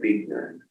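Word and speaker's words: Buechner: on that was by Frederick Beaton Victor is spelled b-u-e -c-h-n-e-r ight Frederick won a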